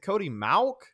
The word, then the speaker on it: Mauk: is it Cody mock is it Cody Mauk I I think it's mock I thought it was mock as well I I wasn't sure if I had heard any other pronunciation so until for right now it it'll be it'll be mock let's talk about Mr